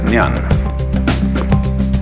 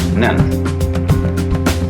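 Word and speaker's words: 念: It's pronounced nyan, Japanese nen.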